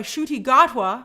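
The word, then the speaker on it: Ncuti Gatwa: first uh doctor of color uh played by shooty gotwa I I did I pronounce it correctly I looked it up before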